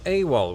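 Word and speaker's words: AWOL: both categories the word awal which stands for absent without leave was initially pronounced a w l it was oh is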